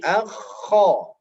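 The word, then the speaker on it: خ: Kho, tidak boleh akha, tapi akho, bukan akha.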